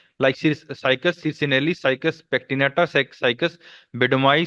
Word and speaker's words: Cycas: ठीक है, इसको साइकस बोल लेंगे। प्रोनाउंसिएशन कई बार आप मतलब गलत बोलते हो, साइकस इसका ठीक रहेगा।